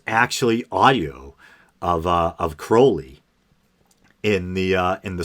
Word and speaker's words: Crowley: dawn and you know aleister crowley and yes crowley is the correct pronunciation and uh then i noticed for the